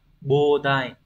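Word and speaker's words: 膨大: Sẽ đọc là bodai.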